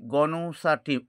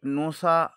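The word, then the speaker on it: Gnosa: এরপরে তৃতীয় যে সিম্বলটি আমরা ব্যবহার করব সেটা হচ্ছে গনসাটি সিম্বল। বন্ধুগণ এটাকে অনেকে নোসা বলে কিন্তু আসল উচ্চারণ হচ্ছে এটি গনোসা জিএনও এস।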